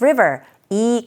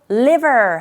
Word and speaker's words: river: this river이 강이요. 여기서 river이라는 단어 정확한 발음은 R sound river 이렇게 발음하셔야 되는데 혹시 Lund드로 liver 하게 되면 완전히 다른 의미가 되죠.